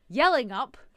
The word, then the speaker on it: Yallingup: hello freedom family we are in yelling up that's spelled y a w l i n g